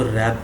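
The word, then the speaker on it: wrap: कि अब मैं इसको रेप किया हुआ है इस में डब्लू साइलेंट होता है नेक्स्ट डुबो का मतलब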